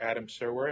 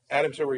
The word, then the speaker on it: Adam Serwer: I'm Dan Foster, news editor, National Review Online, and you are Adam Serwer. Am I saying that right? We're Yes. Twitter buddies, but I think this is the first time we. No, you said it right.